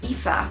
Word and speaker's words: Aoife: Aoife, a good Gaelic name, pronounced like E-F-F-A.